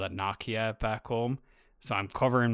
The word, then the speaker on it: Nokia: but we call it Nokia back home. So I'm covering my ass Mhm. before someone says, "You said it wrong." I know. It's Nokia? It's Nokia, yeah.